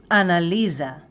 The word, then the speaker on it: אנליזה: Analiza, Analiza, Analiza, Analiza, Analiza.